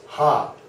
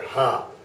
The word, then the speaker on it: H: f g very good this one is pronounced hop it's like laughter hop this one confuses a